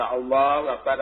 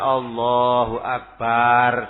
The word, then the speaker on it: Allahu Akbar: Sebagai contoh , dari posisi berdiri ke sujud, "Allahu Akbar," tentu saja, bagian "Allah" memang harus diucapkan panjang. "Akbar" harus disingkat; Bukan "Allahu Akbar," itu salah, tapi "Allahu Akbar."